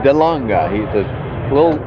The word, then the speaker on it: De Lange: It's De Lange. De Lange. He's a little pronunciation there.